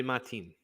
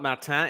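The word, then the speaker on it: Martín: Henry Martin it's not Mata it's Martin in Latin it will be pronounced and uh just showing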